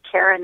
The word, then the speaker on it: Karyn: spell my name correctly Karen is spelled k a r y n okay and see a